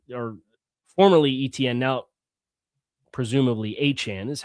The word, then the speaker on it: Etienne: Travis Etienne formerly or formerly Etienne now presumably Achane is how he said he'd like it pronounced.